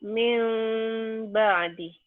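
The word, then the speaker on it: مِنْ بَعْدِ: Bunyi n ini berubah menjadi m. Min, tuh ya. Nah, min ditulisnya, dibacanya jadi apa? Jadi min ba'di. Ya, bunyi M. Tapi ada bindeng sedikit.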